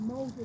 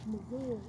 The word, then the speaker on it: Mosul: We did 2 tours, and the last one was the United States said Mosul, but it's pronounced as Mosul, Iraq.